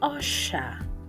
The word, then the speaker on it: osha: The next letter is pronounced as o, o, and the word will be osha, osha, which means wash in English.